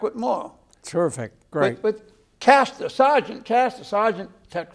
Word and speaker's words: Caster: How do you pronounce it? Caster. Caster.